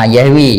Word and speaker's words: Yahweh: Yahweh. Ini bacanya.